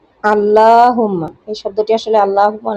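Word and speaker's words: اللّٰهُمَّ: আল্লাহুম্মা, এই শব্দটি আসলে আল্লাহুম্মা না, আল্লাহুম্মা। বেশিরভাগ মানুষই আল্লাহুম্মা বলে, শব্দটির সঠিক উচ্চারণ হবে আল্লাহুম্মা।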